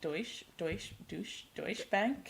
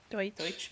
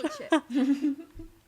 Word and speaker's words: Deutsche: Yeah, the how do you say it? Deutsch Bank? Deutsch Bank. Deutsche Bank. Deutsch. It's German. Oh yeah, the Kin Porsche. Deutsche.